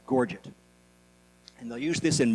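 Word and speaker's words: gorget: It looks like it's to be pronounced forget, but it's not. It's called pronounced gorgget.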